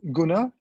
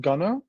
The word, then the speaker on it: Gunnar: So it's Gunnar. It's a Swedish name. It's not Gunnar. I'm not a fan of Arsenal London, and they are called the Gunners, so that's not necessarily me. So Gunnar is from Sweden, but just the name.